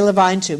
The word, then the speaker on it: Levine: is used is a Levine tube. You'll remember this, or 11, depends on the part of country where you learned how to say this word. I say Levine tube.